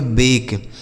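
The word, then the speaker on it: bake: अगर किसी भी शब्द के लास्ट में इ लिखा होता है तो उसका उच्चारण नहीं किया जाता है। जैसे इसे पढ़ेंगे दोस्तों बी ए के ई इसे पढ़ेंगे बेक।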